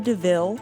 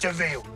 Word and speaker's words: de Vil: With a name like Cruella de Vil, i.e. Cruel Devil, it's pretty much spelled out that you're going to be the bad gal. It's spelled devil, but it's pronounced Deville.